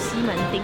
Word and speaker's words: 西門町: Actually, its original pronunciation should be "Ximentǐng."